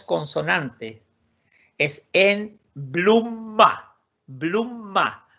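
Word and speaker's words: blomma: Es en blumma. Blumma. O sea, primero la M y después la M. Blumma. Y bien pronunciado, bien pegado a los labios. M. Blumma. En blumma, no en bluma.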